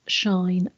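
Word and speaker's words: sinh: in terms of exponentials you will heard them pronounced as shine kosh and tanch uh or refer to them as hyperbolic cyan cause and tan as you will also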